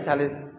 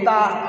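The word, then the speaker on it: ت: উপরে দুই নুক্তা হলে তা, জিভের আগা মানে জিভের ডগা, আর উপরে দুই দাঁতের গোড়া, সামনে উপরে সামনের দুই দাঁতের গোড়া, এই জিভটা ওই গোড়ায় লাগাতে হবে, তবেই যে তা উচ্চারণ হবে।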